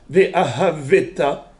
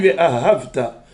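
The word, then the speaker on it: וְאָהַבְתָּ: Pourquoi on ne dit pas Ve'ahaveta? Pourquoi on dit Ve'ahavta? Parce qu'il vient, le Sheva du bête, il vient où? Après un patah. Patah, c'était Noa Ktana. Donc voilà, on ne le prononce pas.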